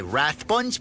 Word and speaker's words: Rathbun: to point out that he pronounces his name Rathbun he does that was